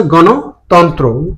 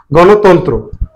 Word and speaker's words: গণতন্ত্র: এবার আসছি গণতন্ত্র। সঠিক উচ্চারণ হচ্ছে গ ন। এখানে হচ্ছে মূর্ধন্য, হবে হচ্ছে দন্ত ন। গণতন্ত্র, তন্ত্র। সঠিক উচ্চারণ হচ্ছে গণতন্ত্র, তন্ত্র না, গণতন্ত্র।